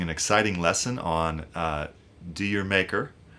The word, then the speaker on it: D'yer Mak'er: on uh "D'yer Mak'er" which I'm sure I'm pronouncing that uh differently than Led Zeppelin would. I believe in the UK they would say something like Jamaica which is actually what they intended it to sound like.